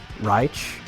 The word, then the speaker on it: Raich: his name it's uh it's the start of Raichu but then you drop the oo uh and that's ra I used I called him ra for the longest time